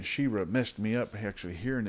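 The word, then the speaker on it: Sheerah: He-Man and Shira and there was no h at the end it's just the a at the end so that's what always mess me up with saying but actually just pronounced the same Shir like Okay so let's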